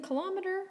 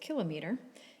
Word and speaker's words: kilometer: And then kilometer, or some people pronounce it kilometer, is about the length